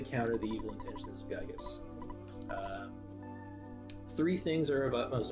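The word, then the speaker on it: Giygas: future all this devastation now i say this gigas other people say gigas and other people even have a different pronunciation i'm going with gigas because i don't know that sounds better to me uh universal cosmic destroyer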